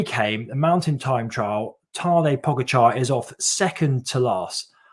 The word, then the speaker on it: Tadej Pogačar: And the young guy, 21-year-old Tadej Pogačar, I think that's how you say his name anyway, Tadej Pogačar, he was in second place.